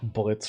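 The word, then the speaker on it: Blitzø: Is it like Blitz from Hell of a Boss, where the O is silent at the end?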